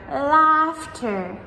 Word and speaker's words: laughter: one of all, and this is the GH combo of the silent letters together. So in words like daughter or laughter, ha ha ha, right? We spell these daughter, D-A-U-G-H-T-E-R, or laughter, L-A-U-G-H-T-E-R. So in both of these words, the GH silent letters come in the middle before the T.